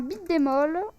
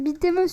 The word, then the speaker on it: beat'em up: Donc c'est un beat'em all. Ou un beat'em up, enfin... La vraie prononciation c'est beat'em up, c'est juste une déformation française du jeu. C'est juste une déformation de la télévision française, qui d'ailleurs a très